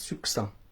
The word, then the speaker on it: succinct: Ça se prononce succinct. Succinct. Alors, succinct. Succinct. Ça s'écrit S-U-C-C-I-N-T. Succinct.